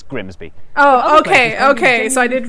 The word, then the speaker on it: Grimsby: But what if we told you it was pronounced Grimis? We'd be lying. It's Grimsby.